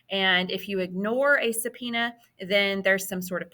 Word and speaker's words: subpoena: Congressional investigations can include a subpoena and I know that's not how that word looks but that's how it's pronounced um so a subpoena if you've been subpoena